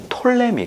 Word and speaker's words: 프톨레미: 그런데 다 똑같은 말이에요 그가 묵음 이기 때문에 쓸 때는 부터 이미 라고 쓰지만 얘길 때는 톨레미 라고 1 거든요 그래서 톨레미 나 포털